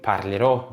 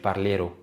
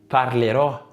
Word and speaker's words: parlerò: فلازم تقول parlerò مش parlero. لا، parlerò، parlerà، scriverò، ده لاتشنتو.